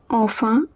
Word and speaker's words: enfin: Enfin, remember, en is a nasal sound and in is also a nasal sound. En is pronounced as en, in is pronounced as a.